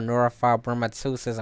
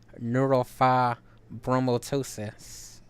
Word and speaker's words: neurofibromatosis: picture it's the color that they use for neurofibromatosis awareness month here's an MRI on my neck